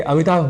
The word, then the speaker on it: अमिताभ: एक प्रसिद्ध नाम है पर शीघ्रता वश या अनवत वश हम अमिताभ इस शब्द में भ की जगह ब यह उच्चारण कर जाया करते हैं और उच्चारण की दृष्टि से हो जाते है हमसे चूक इसी तरह प्रधानमंत्री को